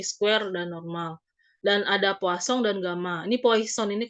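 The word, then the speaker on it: Poisson: ini Poison ini kan bacaannya kosong ya karena Poison ini sendiri adalah orang Perancis jadi namanya itu ada kosong kayak gitu ya kadang gitu sengau gitu bukan Plaza bukan plafon tapi bukan Poison juga bacanya tapi posong karena ini adalah orang ahli statistika dari Prancis kita lihat dulu abstraknya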